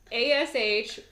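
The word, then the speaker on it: अश्विनी: And the first section of Aries is called, I might pronounce this wrong, but it's called Ashwini. I think you pronounced it perfectly. Ashwini sounds exciting. It's Ashwini.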